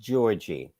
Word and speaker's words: Giorgi: Venus won against Camilla Giorgi. Her name is pronounced Georgie.